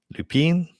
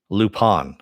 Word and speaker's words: Lupin: Lupin? Is it French? Lupin. Oh, Lupin. Okay. Well, then it should have an ON at the end there instead of an IN.